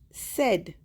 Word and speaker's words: said: पढ़ना चाहिए हमें इसको No, it is said because AI जो है one sound निकाल रहा है so this word is said.